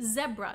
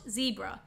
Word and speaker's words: zebra: And yes, in Australia, we say zebra, not zebra. Just like you would say Debra, not Debra. Yes, it's a bit of a thing. We pronounce our Z's or Z's as Z sounds, not Z sounds.